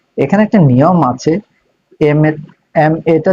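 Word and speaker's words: M.A.: তো এখানে একটা নিয়ম আছে, এম এটা তুমি উচ্চারণ করো এম এ।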